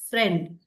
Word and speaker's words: friend: Both vowels are there, I ಅಂಡ್ ಇ, ಬಟ್ we pronounce it as a, friend, isn't it? So only you can hear the sound of e, a.